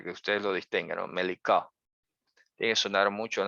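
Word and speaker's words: מליקה: Melicá, que hay que pronunciarla con Q y no con K. Melicá. Melicá. La kuf en hebreo tiende a sonar aquí muy abajo en la garganta, ¿no?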